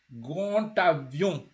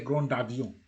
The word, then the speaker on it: grand avion: When the D meets a vowel, when you're doing that connection, the D never sounds like a D. You can never say grand avion. You say grand avion. Yeah? That's how you say it. Grand avion. You don't say grand avion. It's grand avion.